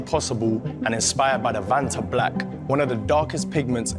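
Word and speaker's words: Vantablack: 2024 that's kind of clean though black again vant black that's what it is that's actually how you pronounce it that that's how you say it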